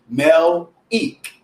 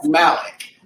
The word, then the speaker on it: Melik: to pronounce my name so my name is actually Mel ich Malik so everyone knows me as Malik whenever I'm out they always call me Malik but it's actually Mel eat Malik but yet